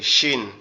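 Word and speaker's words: شين: এরপরে যেটা আছে সেটা হচ্ছে কি শিন, সেটা হচ্ছে শিন। এই শিনটা কোথা থেকে উচ্চারণ হবে? আমাদের জিহ্বার আমাদের দুই দাঁতের পাটি, অর্থাৎ উপরের দাঁতের অংশ নিচের দাঁতের অংশ একসাথে এমন শক্তভাবে লেগে থাকবে, লেগে উচ্চারিত হবে শিন, শিন, শিন, শিন, শিন।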